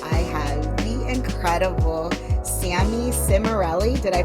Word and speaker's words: Cimarelli: so excited because I have the incredible Sammy simell did I pronounce that correctly yes you did great yes